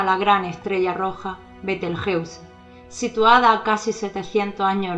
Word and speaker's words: Betelgeuse: Dado el origen de la palabra cabe decir que la pronunciación más correcta de este nombre se realiza cuando se utiliza el idioma castellano: Betelgeuse.